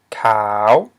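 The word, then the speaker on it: ຂາວ: We have cow, and cow means white, the color white. And we have a high consonant, k, followed by a live syllable. Ow. Okay, it ends in a semi-liquid. And it is a rising tone.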